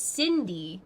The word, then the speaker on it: Sydney: are floaters Sydney Sid it's Cindy but it's spelled like it's gonna be Sydney but then it's not it's Cindy Cindy told her you get